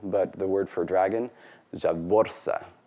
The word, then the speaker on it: zhavvorsa: The proper pronunciation of Dothraki is Dothraki, stressed on the first syllable, but the word for dragon, Javorsa, because there's that heavy internal syllable, so it gets penultimate stress.